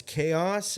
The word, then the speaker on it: Kayhaos: It's Chaos. It's not spelled like chaos. It's KAYHAOS.